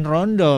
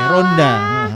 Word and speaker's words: ronda: Jangan rondo, bukan. Ini ronda.